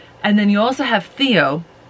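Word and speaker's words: Theow: then you also have Theo who it's spelled it sounds like a name but it's spelled t-h-e-o-w and apparently that was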